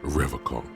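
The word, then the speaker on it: Revachol: And he pronounces Revaccom with a hard K, unlike other people.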